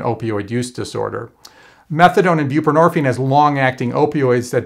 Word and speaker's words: buprenorphine: pretty easy to pronounce buprenorphine kind of rhymes with morphine nobody can pronounce it